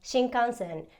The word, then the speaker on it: shinkansen: would be something like shinkansen you read it exactly how it's spelled out and even if you